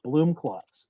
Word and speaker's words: Blumklotz: It was German. It was Blumenklotz. Then my grandfather Americanized it to Blumklotz.